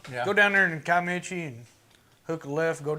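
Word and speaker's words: Kiamichi: I've always pronounced it Kaimichi. I always pronounce Kaimichi. More of a sh sound. Kaimichi. Kaimichi? That's how I Kaimichi? say it, yeah. But that's an old timer, white old timer way of saying it's Kaimichi.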